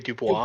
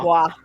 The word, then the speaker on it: Dubois: If it's French, it's supposed to be Dubois. Dubois.